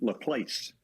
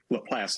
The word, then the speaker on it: LaPlace: When I saw it, it's capital L-A, capital P-L-A-C-E, that I was pronouncing LaPlace. Well, LaPlace, Louisiana, because of the French influence.